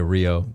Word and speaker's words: Rio: So in Portuguese Rs are pronounced like H's. Yeah. Yeah. That's why I heard Hooters. But I I knew. Yeah. Like they say like ho ho. Hio.